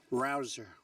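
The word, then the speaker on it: Rouzer: Rosa hey you know how you pronounce it rabble rouser you go David rouser where's David is he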